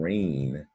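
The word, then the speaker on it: reign: And rain is strange because that G, you can consider that G as a silent G, right? Rain, and the EI is making a long A sound like rain.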